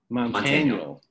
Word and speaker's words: Montaniel: Montaniel. Yeah. Sorry. There's two ways. There's the true way, which is Montaniel. That's Montaniel. The Filipino way. And then the Americanized way is Montaniel, like Daniel with a T.